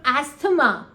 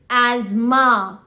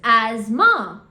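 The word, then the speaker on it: asthma: you you know my friend is suffering from asema this is very wrong again it is Asma the correct pronunciation is Asma you know I'm planning on going to Sri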